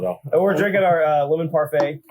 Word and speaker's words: parfait: we're drinking our lemon parfait it's a sour beer with lemon granola coconut and vanilla and a little yogurt essence who decided not to pronounce the t in parfait hmm that's a good